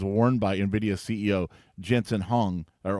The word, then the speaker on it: Huang: Interesting side note, a leather jacket that was worn by Nvidia CEO Jensen Huang or Huang is how you pronounce the last name.